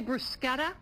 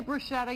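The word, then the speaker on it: bruschetta: some brusketta pizza for you and you say brusketta well I say brushetta you say brusa well when I published this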